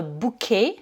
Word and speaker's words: bouquet: Un bouquet de fleurs, c'est a bunch of flowers, ou alors un bouquet, donc là on prend le mot français et on le prononce à la française.